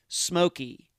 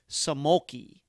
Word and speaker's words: Simolke: missy smokey and yes that is how you pronounce her and brennan's last name smokey not samoki i thank her for joining me and all